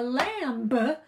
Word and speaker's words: lamb: 2020 phonics lesson a Lamba on a limbo huh lamb on a limb silent B we know it num-num